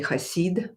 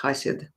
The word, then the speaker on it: Hassid: or another yfid and I pronounce him asid some people say Aid like aidic Jew I mean hassid but since he was polish by origin I say know more in Polish hassid Yosef hassid and um for those